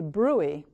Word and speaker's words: bruit: may say to you that you have a bruit. It's spelled B-R-U-I-T, which means a noise or a